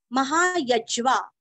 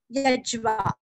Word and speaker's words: महायज्वा: महाक्रतुर महायज्वा, य के ऊपर आघात, आधा ज वा, यज्वा।